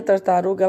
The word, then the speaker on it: tartaruga: tartaruga então acima dela essa palavra tartaruga é o que a palavra tartá o que é paroxítona que a sílaba mais forte ouro né se fosse o lugar seria oxítona como é o uro é paroxítona certo é vamos vou